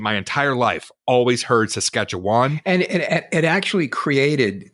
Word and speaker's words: Saskatchewan: don't feel too bad the proper way to pronounce as I said it Saskatchewan is Saskatchewan Saskatchewan am I saying it